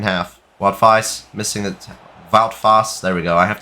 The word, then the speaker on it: Wout Faes: Wout Faes. There we go. I have to keep pronouncing that right.